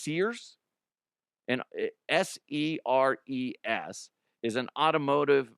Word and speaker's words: SERES: I think it's pronounced Sears.